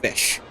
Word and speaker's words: Ghoti: It is pronounced Fish.